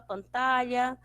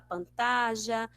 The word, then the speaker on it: pantalla: Então, na Espanha se fala pantalha, na Argentina se fala pantalla, no México se fala pantalla, em outros países se falam pantalla. Então, você fica, quando for pronunciar, fica a seu critério.